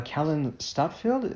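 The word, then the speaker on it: Kallen Stadtfeld: I apologize for mispronounced the name here uh Callan stadfield is that how it's pronounced yeah all right fantastic in the Code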